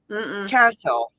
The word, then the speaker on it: castle: Castle. Yeah. When you say castle, don't hear the T.